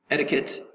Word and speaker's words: etiquette: polite behavior the next word number eight is etiquette etiquette educate three syllables etiquette accents is going to be over